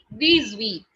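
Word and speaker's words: dix-huit: sweet this week okay it sounds like these week these week okay after 18 the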